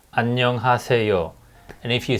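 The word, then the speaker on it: 안녕하세요: else hello ano hace there is a five syllables annyeonghaseyo and if you say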